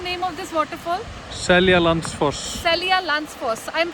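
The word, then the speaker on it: Seljalandsfoss: Celia Lansfoss. Celia Lansfoss. I am pronouncing it right? Yes. Okay, so the name of this waterfall is Celia Lansfoss.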